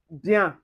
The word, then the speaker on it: bien: And then when you see ien or yen or e accent aigu as the acute accent with the en, we pronounce it as un. So for instance, this way your bien.